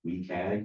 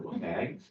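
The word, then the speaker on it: WCAG: accessibility guidelines also um refer to or pronounced weag or wag so the those are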